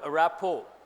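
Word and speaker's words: rapport: meaning of the word a rap o T is silent a rapper means what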